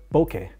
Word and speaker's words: bokeh: So a big thing that Phil Schiller was talking about with the iPhone cameras was bokeh, or bokeh as he pronounces it.